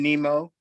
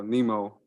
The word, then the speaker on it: Nimmo: I like how you said his last name though, Nemo, like Finding Nemo. Right? Is that how you say it, right? I don't know. Nimmo.